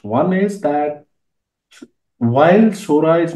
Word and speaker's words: Sora: here is Sora and you probably pronounce that Sora because it's Japanese which stands for the sky uh and he said